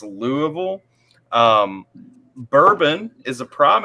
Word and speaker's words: Louisville: not it's versales um Louisville is intentionally not Lewisville it's Louisville um bourbon is a